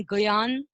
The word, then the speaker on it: ज्ञान: अब देखिए ज्ञ का उच्चारण हिंदी में आधा ग और य होता है, जैसे ज्ञान, इस शब्द का उच्चारण ज्ञान भी किया जाता है, यानी आधा ग यान है, ज्ञान भी किया जाता है।